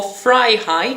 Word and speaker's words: vrijheid: For fry-hide, so you're frying someone's hide. You've skinned them and you're frying their hide.